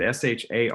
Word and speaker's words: Sade: the back of it, it said, pronounced Sade. It said SHAR-DAY.